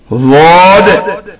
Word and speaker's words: ض: It is called Wad. Right or left blade of the middle part of tongue and right or left upper molar teeth are used in the pronunciation.